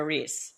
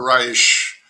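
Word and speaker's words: Reis: a novel about a POA heteron uh Ricardo Ree. Right. So, Ricardo Rich, Rich, sorry.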